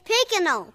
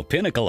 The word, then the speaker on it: Pinnacle: It's Picanol, Picanol Home Improvement.